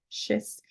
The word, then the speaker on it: schist: with was made from Manhattan schist I think that's how you say it schist which is the kind